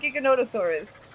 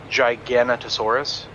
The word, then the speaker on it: Giganotosaurus: Like think gigantic, because I think that's the root word, you know. So Giganotosaurus, something like that.